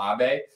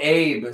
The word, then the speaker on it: Abe: supporter of the show also corrected my Japanese pronunciation hopefully I got it that time Shinzo Abbe even though Abe sounds a little bit more like I want to hang out with them anyway so these